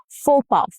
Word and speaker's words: faux pas: Faux pas, so faux, X is silent.